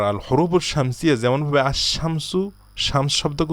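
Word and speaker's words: الشمس: আশামসুর পিছনের আলিফ লাম এই লামটাকে আমরা উচ্চারণ করি না সাইলেন্ট রাখি আমরা বলি না যে আল শামসু আমরা বলি আশামসু সূর্য অনুরূপভাবে এই হরুফের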